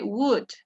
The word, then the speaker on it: would: Algo que es muy común cuando estamos aprendiendo este tipo de condicional es que pronuncian la O y la D, pero no se pronuncia. ¿Ok? Would, perdón, la L, estoy confundiendo. La L. So, ay, la L no la pronunciamos, ¿sí? Y solo pronunciamos la W-U-D, would.